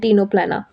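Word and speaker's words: Ctenoplana: That is क्लियोबार्किया एंड टीनोप्लाना। प्लियोबार्किया एंड टीनोप्लेना। C silent होता है यहां पे।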